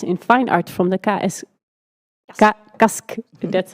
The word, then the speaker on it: KASK: She holds a master's in fine art from the KASK, that's how I should pronounce it, School of Art in Ghent, where she was nominated for the Start Point Prize in Break.